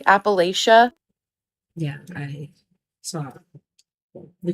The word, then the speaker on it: Appalachia: And also, some of you are telling me that I'm pronouncing Appalachia wrong. I used to pronounce it like Appalachia.